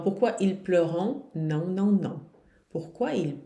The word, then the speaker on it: pleurent: Porém, esse ENT não se pronuncia nunca, minha gente. Nunca, certo? Então, pourquoi ils pleurent?